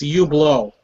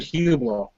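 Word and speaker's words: Hublot: sounded like he said huo it's actually like you oh like you the H is silent the H is silent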